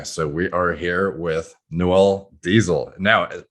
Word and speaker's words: Noel: it by birth or by pronunciation of my name, it's actually Noel, but very few people actually get that correct.